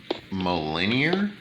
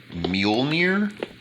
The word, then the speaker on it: Mjolnir: think it's i think in the halo series it's pronounced millennial however it's actually supposed to be mjolnir uh either way um